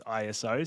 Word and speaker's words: ISO: It's ISO.